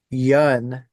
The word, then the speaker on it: Yun: I I think that's the funniest thing for me is watching people try to pronounce some band names. You're like, "What the fuck?" Yeah. Um so Yun, is that right?